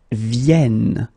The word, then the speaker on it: viennent: And that's the reason why you should pronounce it vienne, vienne. Okay, so ils viennent, elles viennent.